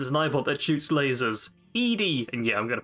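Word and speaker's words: ED-E: ipod that shoots lasers edie and yeah i'm going to pronounce it that way no it's eddie but no the other one's eddie because it's ed hyphen e this one's e hyphen d e oh okay yeah c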